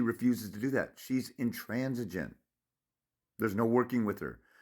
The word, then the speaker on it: intransigent: but you look at the spelling of it, intransigent, like gentleman, intransigent.